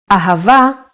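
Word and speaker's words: אהבה: it in both ways when hay appears in the end of the word it will always sound as a ahava is love in Hebrew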